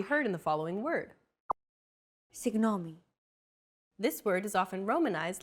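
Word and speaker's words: συγγνώμη: in the following word signomi this word is often romanized like this signomi this character isn't pronounced using an English G sound at all who it's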